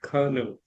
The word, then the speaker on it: colonel: Then later I came to know that oh it's left in kernel kernel.